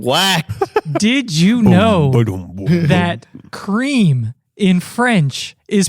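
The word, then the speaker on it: crème: E with the grav accent denotes the pronunciation creme e as in bet. It is used to make it clear that the e is not silent nor that it makes the hard e sound like eerie.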